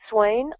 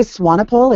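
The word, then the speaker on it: Swanepoel: not sure whether I got Mel pronounced it Swain I pronounced it swanpool it's actually swano it's Stefan swano he's a he's an author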